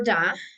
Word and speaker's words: the: Remember that the pronunciation is according to the next word. We pronounce "the" when the next word is or starts with a vowel. The orange, the egg, the umbrella, the elephant, the artist, yeah? And we pronounce "da" when the next word starts with a consonant. The car, the cell phone, the door.